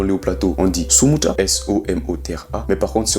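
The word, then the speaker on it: somotra: Si on est dans les hauts plateaux, on dit sumuta, S-O-M-O-T-R-A.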